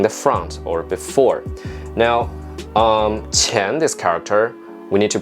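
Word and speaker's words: 前: I'll break it out the pinging is Q I a in ten with the second tone Chan actually if you pronounce chin I would think of another character money because teacher energy lost money so if you say Chan I don't think of in front or before I think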